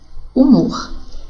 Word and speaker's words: humor: Porque a letra H não tem som, não é verdade? Então, seria emitido dessa forma: haver, herói, hino, hora, humor.